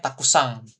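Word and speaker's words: たくさん: Kemudian kalau bilang banyak itu takusan kan, takusan n gitu ya, belakangnya akhirannya n doang nih gitu ya, tapi dia bacanya takusang seperti itu.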